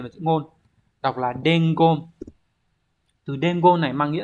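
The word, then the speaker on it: 伝言: Đọc là dengon.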